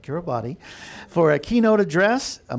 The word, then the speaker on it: Kiribati: That's the former president of the Republic of, hope I pronounce this correctly too, Kiribati, not Kiribati, for a keynote address, a moderated conversation to